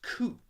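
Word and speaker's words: 空: but is void or emptyness coop is the way that character is pronounced now this is different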